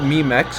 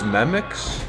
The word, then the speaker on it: Memex: So it's not Memex, it's Memix.